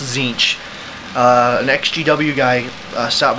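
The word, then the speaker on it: Tzeentch: standard uh it comes with uh Sun Ash zinch it's actually pronounced zinc uh an xgw guy stopped by and played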